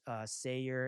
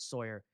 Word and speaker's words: Sayer: Last name was Sayer, and I pronounced it Sawyer.